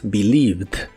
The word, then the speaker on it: believed: En el pasado es believed. Es muy similar a la versión del presente, solo que en el pasado se le agrega una D al final y ninguna E se pronuncia.